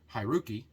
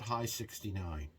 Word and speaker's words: Haruki: Hi is correct. Ru is 6. Ki is 9.